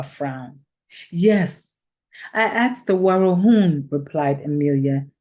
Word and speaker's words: Warahun: The Warahun, began Emilia, pronouncing the last syllable of the name of the South American Indian tribe as though it rhymed with moon.